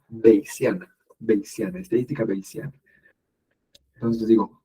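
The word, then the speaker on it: Bayesian: que se llama beana en español le dicen vesana pero si lo pronuncian correctamente en inglés es beana beana estadística beana entonces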